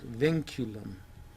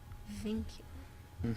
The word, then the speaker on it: vinculum: this is a n you want uh to pronounce vinculum vinculum m vinculum can you say that vinculum this little line here